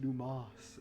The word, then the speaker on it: Dumas: He said it's pronounced Dumas, but that one Alexander definitely Dumas. had two S's.